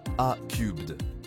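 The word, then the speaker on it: A³: Airbus, leader mondial de l'industrie aérospatiale, participe activement au développement de solutions de voitures volantes par le biais de sa filiale A3, prononcée A-Cubed.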